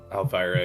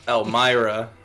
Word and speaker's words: Elmira: look back at Al Elvira and go you've been saying a V and I thought it was a mistake no thank you because I definitely have been saying it wrong Elmira uh I look back